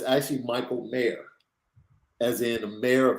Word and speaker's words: Michael Mayer: but it's actually Michael Mayer, as in the mayor of a city. Okay. It's supposed to be pronounced mayor.